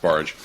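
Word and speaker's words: Bargh: a Yale psychology Professor whose name is John barge which is spelled v-a-r-g-h but it's pronounced barge he had done some some studies that had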